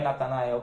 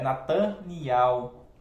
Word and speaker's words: Nataniel: o Natan por exemplo Nataniel para nós veio traduzido como Natanael né mas não é Natanael é Nataniel o nome verdadeiro do